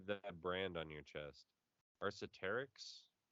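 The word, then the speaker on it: Arc'teryx: Arceterix? Arcteryx.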